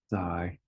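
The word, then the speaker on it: 灾: bit similar to the character near but it's pronounced Zai so for example earthquake tornado all right sadly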